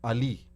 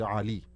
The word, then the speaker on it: Ali: start with an or like my name, like Ali, which is what like someone who understands English or Kiswahili will say the name. The actual pronunciation is Ali, so it has to come from the throat.